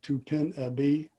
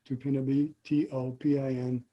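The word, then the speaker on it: Topinabee: Most people pronounce it Tupinabee, T-O-P-I-N-A-B-E-E. Well, I asked one of my language instructors how he would pronounce it, and he said it would probably be Topinabe.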